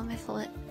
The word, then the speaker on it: Mytholian: Thank you, fellow Mytholian. That's how you pronounce it.